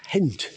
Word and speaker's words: Ghent: We've come into Ghent, or Ghent as we've been told it should be pronounced.